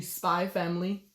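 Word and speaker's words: Spy × Family: For the ones who are looking for genre that are kid friendly, my suggestion would be Spy Family. Also, the X is not pronounced.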